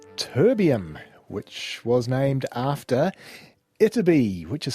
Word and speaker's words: Ytterby: of course about terbium which was named after iterby which is spelled y-t-t-e-r-b-y a chemically prolific small village in